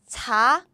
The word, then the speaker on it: 잡히다: We combine the sounds like this. So this become p, as in 잡히다. So this one, nope. 잡히다. This is how we say caught.